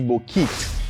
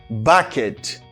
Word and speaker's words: bucket: This word, Haïtien remen dit bokit. Donc on entendez mon yo dit bokit pas vrai? Bokit. Ah bien son mot anglais li est tout. Mais li prononcé comme bucket.